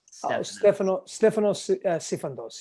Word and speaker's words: Stefanos Sifandos: She wants to know your name, maybe the pronunciation. It's Stefanos Sifandos.